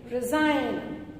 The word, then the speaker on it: resign: You say resign.